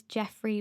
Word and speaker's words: Geoffrey: So the Instagram account is Jeffrey Walk, and that's spelled Geoffrey, Walk.